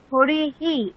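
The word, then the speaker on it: হরিঃ: হরি, এখানে ইকারের পরে বিসর্গ আছে, তাই হকারের সাথে ইকার যুক্ত হয়ে হরিহি এরকম উচ্চারণ হবে।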